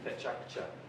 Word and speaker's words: Pecha Kucha: The proper way to pronounce it is actually Pecha Kucha.